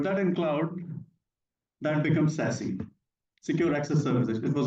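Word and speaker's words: SASE: is SAS s e this is pronounced as sassy sassy s a s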